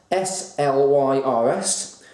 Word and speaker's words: Slyrs: My auntie brought it over from Bavaria, and it's called Slyrs. Spelt S-L-Y-R-S, but it's pronounced Slyrs.